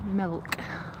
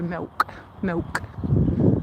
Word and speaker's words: milk: So I try very hard to pronounce it as milk, like silk now. Because the way of saying it with a Leicestershire accent is more like Millwall, you know, milk, like with a W in the middle of it.